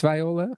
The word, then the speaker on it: Viola Spolin: I think it's Viola. Okay. I've pronounced it both ways myself, but yeah, she